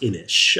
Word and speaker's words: Inis: really famous game called inish I believe I'm pronouncing it right I N I S okay yeah um I've been told is pronounced inish uh it's a Celtic word or something but uh so itic